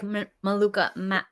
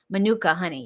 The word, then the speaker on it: Manuka: This particular brand, I do not like Maluca Maluca honey. I think I'm saying it right. Manuka honey. Yeah, manuka honey.